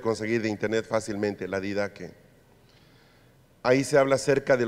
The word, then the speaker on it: Didache: La didaque se escribe didache, didaque.